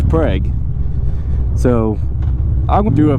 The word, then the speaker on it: Prague: or heard of a Prague check if it's often yeah if I butcher that I'm sorry but Oklahoma has a frog but they don't pronounce it like that it's preg so I will do